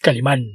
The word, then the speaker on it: Calimán: Es Calimán, Esteban, lleva acento en la A.